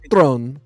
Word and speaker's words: Theron: Charlize Theron. It should sound like Throne.